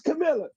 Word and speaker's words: Kamala: name is Cam straight up and down it's Camila you're wasting time you're dis up here to